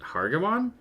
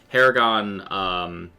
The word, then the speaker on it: Haragon: That character was a how do you pronounce the actual species? Is it Hargamon? Haragon. Haragon. Okay, sorry, Haragon.